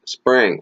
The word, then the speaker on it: Xpring: is this is huge pronounced spring okay for now spring with spring ripple would